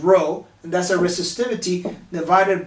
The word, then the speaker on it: rho: is actually lowercase greek letter r which is pronounced rho and that's our resistivity divided by a which